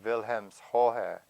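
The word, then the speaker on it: Wilhelmshöhe: Another large group lived in Wilhelmskonko, or Wilhelmshohe, which the Germans pronounce it that way, Hohe.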